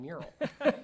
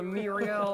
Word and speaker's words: mural: as one because so many people have a hard time pronouncing mural and you'll find that right off the gate. You know, never thought of this. I want a mural. I want a Muriel.